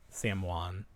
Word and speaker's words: Samhain: Sam Wan. Everyone was calling it Sam Hain. No one knows the correct Gaelic pronunciation. It's Samhain. I know it is. Everyone's saying Sam Hain. They're just reading it phonetically.